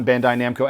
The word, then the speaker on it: Bandai Namco: believe $300 direct from the Namco store uh Bandai Namco entertainment is the proper way to say it